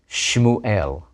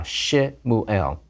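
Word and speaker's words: שמואל: The name Samuel in Hebrew is Shmuel, not S-A, Samuel, but Shin Shva, Shmuel, Shva under the first letter.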